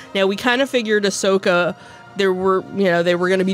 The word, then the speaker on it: Ahsoka: It's pronounced just the way it's spelled. Sure. Ahsoka.